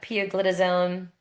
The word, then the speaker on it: pioglitazone: Um, so now we're going to move on to the uh poglitazone.